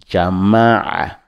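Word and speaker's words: جمع: On dit allez-y, allez-y, jama'a, la lettre qui suit, jama'a, toujours en prononçant dans la gorge, comme on t'a étranglé avec une cravate en disant jama'a, jama'a, allez-y, jama'a, jama'a, jama'a, malan.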